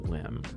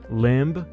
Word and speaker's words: limb: It's not limb, y'all. It's limb. Otherwise, why would they put a B there?